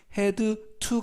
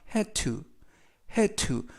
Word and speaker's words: had to: 되겠습니다 이번에는 해야 추운데요 해투 도 발음이 헤드 2 에서 d 에드 발음과 티에 트 발음이 여름이 되서 헤드 투 가 아니라 해트 해트 라고 발음 하시면 되겠습니다 뜻은 무엇 무엇을